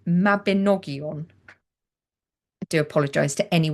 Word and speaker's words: Mabinogion: Welsh triads and the Mabaginon or No, it's not the Mabaginon, is it? See, I'm still pronouncing it wrong. I'm not Welsh. It's the Mabinogion.